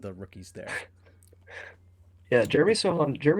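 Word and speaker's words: Sochan: Sohan, that's it. Yeah. Yeah. Me, the expert in name pronunciation, hosting a podcast here with a lot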